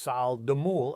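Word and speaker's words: 쌀뜨물: Korean farmers call this sesald mul, pronounced sal de mul, and it's loaded with starches that feed beneficial lactobacillus bacteria.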